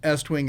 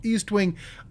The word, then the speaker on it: Estwing: And it's allegedly properly pronounced Estwing. I know a lot of people call it Eastwing.